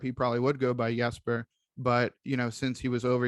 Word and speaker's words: Jesper: over to Johansson as time went on, and Jesper Bratt is the same case, where if we were in Europe, he probably would go by Jesper, but since he was over here, has requested